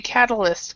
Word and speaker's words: catalyst: and we actually see catalyst so and when I say it fast Jefferson I actually don't say the ti say it more like a d catalyst catalyst catalyst katha